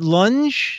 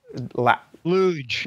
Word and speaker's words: luge: Is it lunge? Lunge chat room. It's a lunge sled, but for a Minecraft character. That's why all the angles are just so. Luge.